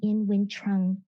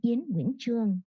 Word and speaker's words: Nguyen-Truong: My name is Dr. Nguyen-Truong, but the actual Vietnamese pronunciation is Nguyen-Truong.